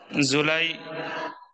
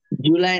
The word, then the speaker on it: Julie: জুলাই doesn't drink tea very often. জুলাই না, বলেন জুলি।